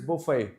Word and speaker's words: buffet: what is this word this is Buffet so here we don't pronounce t at all so it is Buffet we don't pronounce t